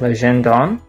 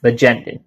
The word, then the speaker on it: Legendin: And another common mistake is people surprisingly think it's a French name. So sometimes they pronounce it as Legendon, but that's not the case. And my name is pronounced as Legendin.